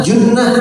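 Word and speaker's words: جُنَّة: Jannah, junnah, jinnah. Kalau melihat tanpa harokat itu hurufnya sama, jim, nun, ta marbutoh. Tapi dibacanya apa nih? Kalau jannah surga atau kebun, junnah pertahanan, perisai, benteng, jinnah jin atau gila.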